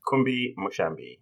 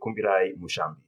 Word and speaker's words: Kumbi Mushambi: And I have also invited a lovely friend of mine, Kumbi Mushambi, or if you're going to pronounce it like I am from Zimbabwe, Kumbi Mushambi.